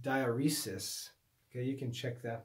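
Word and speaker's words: diaeresis: but should not be diuresis i think in english it's pronounced dioresis okay you can check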